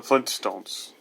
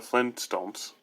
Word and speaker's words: Flintstones: Well, the way we pronounce it, we say it kind of fast, so we don't say Flintstones, because that's awkward to say. We just say Flintstones. That's why we don't recognize a T being in the name.